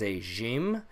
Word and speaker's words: ج: is AG m-- so AG m-- makes a J sound just like in English it does at times make a little bit of a sound so if you think about French or Persian they have a letter